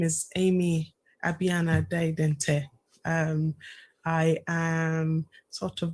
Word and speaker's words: Abinelle: Is the pronunciation, is it okay? Abinelle.